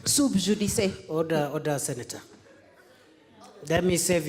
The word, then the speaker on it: sub judice: And the lawyers like Moses Wetangula and others will tell you that you pronounce Latin as it is written, and you write Latin as it is pronounced.